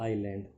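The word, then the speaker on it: island: माने फल, ऑफ द आइलैंड, उस नदी के दूसरी तरफ जो टापू था उस आइलैंड बोलते हैं, इसमें एस जो है साइलेंट रहता है, उस टापू के फल खाना चाहता था।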